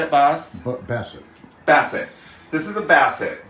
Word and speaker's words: Bassett: so Here, I'll show tell me, this is a Boss, right? Is that how you say it, Boss? Bassett.